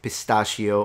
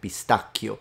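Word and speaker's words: pistacchio: it would be pronounced pistachio and this is maybe one pronunciation rule that you could learn here with this video CH is always a K in Italian and that's a big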